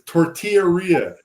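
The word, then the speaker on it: tortillería: we're heading to the tortillera aren't we said tortilla it's tortillaria and then her little uh nav unit says T tortillera yep so I said see see even Google knows how to say it geez they wanton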